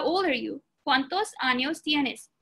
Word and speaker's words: años: With curly tilde symbol, it's called, you would pronounce it NY. Okay? Pronounced like onion. Pronounced like NY sound. So basically, años, it's not anos, it's años.